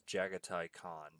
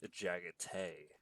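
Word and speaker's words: Jaghatai Khan: who's his name is Jagati Khan, but this one specific narrator says it Jagay because of how it's spelled. And I'm like, no, no, that's not how that's pronounced.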